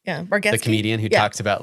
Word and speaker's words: Bargatze: Bargatze. Bargatze.